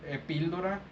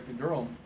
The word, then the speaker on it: epidural: And of course, when I heard her say epíldora, I already knew what she was talking about, and I went ahead and let the provider know. I didn't let the provider know she was saying it wrong.